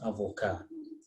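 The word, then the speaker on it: avocat: You see, the first one, there's no vowel after letter T, so T is silent. The second one, there's a vowel, so we say avocado, but the first one is avocado.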